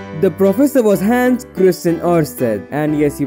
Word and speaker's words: Oersted: The professor was Hans Christian Oersted, and yes, you pronounce it like that.